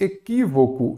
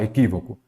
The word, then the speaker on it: equívoco: Eu já sei que a antepenúltima sílaba é a tônica, ela será acentuada. Então, aqui eu tenho uma proparoxítona, não é isso?